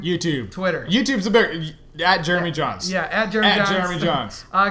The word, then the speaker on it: Jeremy Jahns: on YouTube uh just look for my name Jeremy John's uh it's spelled j a NS because I like spelling